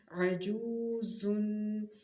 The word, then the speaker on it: عجوز: ہجے عین پہ، عین زبر ع، جیم واو پیش جو، عجو، زا دو پیش زن، عجوزن، عین زبر ع، قاف